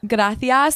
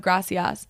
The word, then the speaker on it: gracias: But to answer your question, like the TH sound in Spain, they pronounce the S sound like th. So that's why in Spain, you'll hear them say They got a pretty bad lisp. Gracias instead of gracias. Do they have a lisp? It's not necessarily a lisp. It's like that's how they pronounce those words.